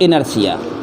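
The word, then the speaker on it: inertia: बड़ी खतरनाक जो है प्रोनाउंसिएशन रहती है, बोलेगा इनर्शिया लिखेगा इनर्टिया।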